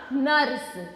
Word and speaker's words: नर्स: नर्स। क्या बना? नर्स। तो न के बाद में र का उच्चारण होगा, र का उच्चारण न के बाद में और स से पहले होगा।